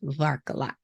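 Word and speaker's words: върколак: Now, while I most certainly butchered all of those pronunciations, I can correctly pronounce the original intent of the Bulgarian word Varkolak.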